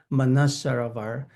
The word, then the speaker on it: Manasarovar: the the lake u Manisarava is nearby. Now you know I mentioned lake you can call it lake M. The pronunciation the close to the original pronunciation is manusar. So it actually has two part.